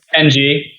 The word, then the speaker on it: Ng: I'm not going to attempt to pronounce his last name either. NG.